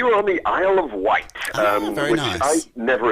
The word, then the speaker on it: Wight: We were on the Isle of Wight, very which nice. I never experienced before. I was pronouncing it the Isle of Widget for a couple of days before Excellent.